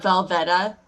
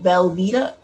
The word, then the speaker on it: Velveeta: like craft does does does anybody else pronounce velveeta velveta sometimes nope like when you're spelling it or like writing it down you're like vel the instead of isn't it spelled v-l-v-e-e-t velveeta okay no sorry yeah